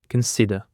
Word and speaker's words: consider: For the first we have consider the stress is on the second syllable consider.